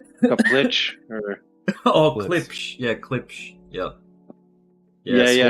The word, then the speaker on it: Klipsch: Schlips or whatever. Schlips. I don't know how to say his name. Kaplich or Oh, Klipsch.